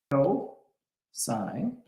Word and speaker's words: cosine: Next up is cosine, and it's pronounced cosine.